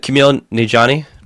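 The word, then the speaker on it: Kumail Nanjiani: I can't pronounce this man's name. Can Yeah, it's Camille Nijani.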